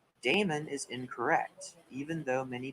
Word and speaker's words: daemon: service processes by convention the word demon uses its archaic spelling here within a te in place of the e in the modern spelling however the pronunciation is the same daemon is incorrect even though